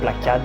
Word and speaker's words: Plakat: Et donc là, petit lien avec le fait qu'on a une morphe qui s'appelle Plakad ou Plakat, ça dépend parce que les gens le prononcent un petit peu comme ils l'entendent, et preuve en est, c'est que ça vient de quelque part.